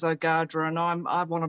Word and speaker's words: Ogadhra: it better so um is a english uh version of the the proper name which is ogadra and i'm i want